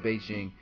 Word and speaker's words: Bigen: presents ball Fade with bigan now I already know what you're thinking it's pronounced Beijing but the founder calls it bigan so I'm going to call a big so right here you're